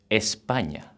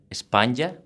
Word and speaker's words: España: España, which means Spain. The pronunciation is kind of putting like an N and a Y together, España, but a little bit quicker, España.